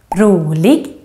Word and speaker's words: rolig: And then finally, you can hear the grave accent, the accent that goes up, down, up, in words with two syllables with typical Swedish ending, such as pojke, rolig, and also in compound words, two words put together, such as lastbil, sjukhus, brandman. And also in this group,